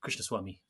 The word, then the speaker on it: Krishnaswamy: Joshi joined by knuckle brande and karik uh Krishna Swami that is right isn't it karik it is I got your surname wrong good um in my my head I